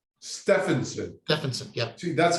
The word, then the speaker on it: Steffensen: program uh thank you alan my name is pronounced stefansson stefansson jefferson yeah that's how well i know you